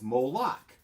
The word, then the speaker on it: Moloch: It rhymes with Mordroc. It's Moloch. Mordroc.